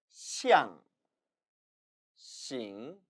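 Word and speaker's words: 象形: 상형 문자의 중국어 발음 따라 읽어보시죠. 시앙, 싱, 시앙싱, 시앙싱.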